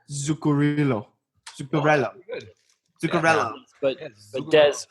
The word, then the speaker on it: Zuccarello: He's Zuccarino. Norwegian. He's from Norway. Oh, Norway. Not Italian. Damn. Mats. I don't know how to do a Norwegian accent. Zuccarello.